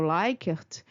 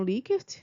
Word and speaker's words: Likert: eh liert, mas a a pronúncia, né, é o likert, mas ela é bastante conhecida por nós no meio acadêmico como lert, né, a pronúncia desse dessa forma.